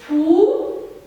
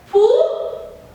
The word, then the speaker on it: poux: Il y a aussi la lettre X qui est muet qu'on ne prononce pas. Des poux, des poux.